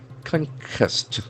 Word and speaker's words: conquest: Conquest. It's a beautiful noun. Conquest. Conquest. Letter Q doesn't have any sound that quest. Conquest. There are two syllables.